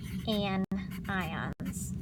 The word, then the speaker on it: anion: You remember negative ions are called anions, right? Anion, not anions, like you sometimes think they're pronounced, or if I were here, I would make fun of you, but I'm not here, so remember it's anions, all right?